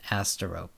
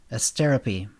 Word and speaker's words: Astero: took attendance tyra astero he pronounced it asteroid here mr norton it's pronounced as therapy thank you mrs therapy